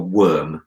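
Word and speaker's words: wyrm: What is your worm going to be able to do? And remember, it's spelled W-Y-R-M, Worm.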